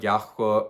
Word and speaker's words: Yahuah: I'm not I say Yahuah. I'm not saying you should say Yahuah. It's just how we say it.